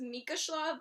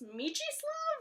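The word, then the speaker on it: Mieczysław: Side note, I always thought the name was Mika Shlav, but it's Michislav, which I didn't know.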